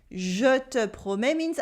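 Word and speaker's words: je te promets: the title jutto prome jo te promens i promise you it has a silent t and the silence s repeat review promises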